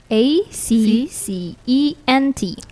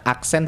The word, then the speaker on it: accent: word is Accent Accent a c c e n t Oke jadi bukan aksent tapi accentent Accent Oke the meaning of